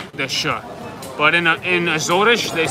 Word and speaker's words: Azores: But they were from the Azores, which most people would call Azores. Azores. But in Azores, it's like Rio. Everything is ush dush, like so crunchy. So they call it Azores.